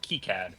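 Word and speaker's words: KiCad: source PCB software uh which is spelled k i c so it's Cad and then before that you have to be careful because one of the ways to pronounce k i k sound is a slur uh so it's key CAD not the other one huh oh well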